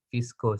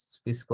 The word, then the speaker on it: VSCO: Nah, untuk aplikasi apps itu Lightroom juga ada, Snapseed, aku bacanya Visco sih ya, terserah sih, VSCO gitu.